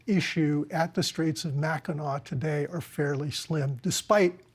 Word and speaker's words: Mackinac: we should remind people, you pronounce it Mackinac, even though it's spelled Mackinac. That's right. But it's pronounced Mackinac.